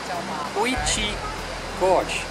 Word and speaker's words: Quechee Gorge: The park assistant what the name of this area is, and it's pronounced as Quechee Gorge.